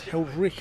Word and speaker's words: Heldreich: Andrew Rad helped me out with the pronunciation of his name. It's Heldrick, apparently.